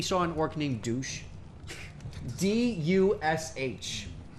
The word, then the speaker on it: Dush: D-U-S-H. I guess it's supposed to be pronounced Dush or something, but, like, come on. For us, Douche.